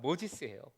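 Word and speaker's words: Moses: 우리 발음으로 하면 모세의 영어 발음 모지스예요.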